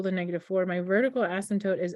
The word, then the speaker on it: asymptote: to actually spell it because that p is silent right you don't say asymptote right you just say asymptote so my brain uses